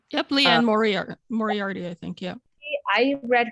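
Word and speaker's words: Liane Moriarty: is it how you say her name yep leanne moriarty i think yeah i read her books in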